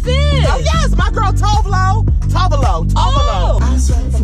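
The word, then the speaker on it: Tove Lo: Oh, yes, my girl Tovlo.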